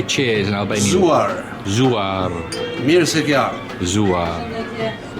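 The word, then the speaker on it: Gëzuar: Zuar.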